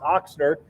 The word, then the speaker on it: Ochsner: name oxner um and in German it's it's Sprout with a or pronounced with a big Ox Ochsner is uh you know means German for for ox and um here's here's